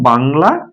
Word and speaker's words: বাংলা: অনুস্বার উচ্চারণ হচ্ছে উমর উচ্চারণ। উমর। আপনি দেখেন বাংলা আপনি লিখছেন বাংলা কিন্তু উচ্চারণ করছেন কি? বাংলা এটা উচ্চারণ করছেন।